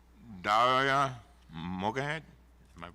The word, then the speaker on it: Mogahed: Mogahed, am I pronouncing it right?